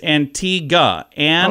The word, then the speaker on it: Antigua: I've always said Antigua. It is Antigua. Antigua. So I think I did say it right.